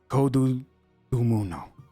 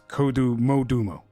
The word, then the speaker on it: Kodu Modumo: Kodu Dumuno. It's Kodu Modumo. Sorry, I said it wrong the first time.